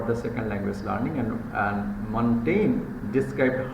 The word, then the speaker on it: Montaigne: Pronunciation is Montaigne. G will be omitted over there.